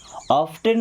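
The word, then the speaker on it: often: टी सी एच लिखा मिल जाए तो टी साइलेंट हो गया उसको लिस्टेड नहीं पढ़ते क्या पढ़ते हैं लिसन क्या पढ़ते हैं लिसन ऑफेन नहीं क्या पढ़ते हैं ऑफेन क्या पढ़ते हैं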